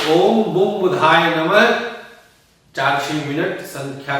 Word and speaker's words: बुधाय: दीजिए और मंत्र बोलिए ओम बुम बुधाय नमः। बुद्धाय नहीं, ध्यान दीजिएगा, बार बार कहता हूं कि लोग बुद्ध बुद्ध बुद्ध कहते हैं, बड़े बड़े दिग्गज भी कहते हैं।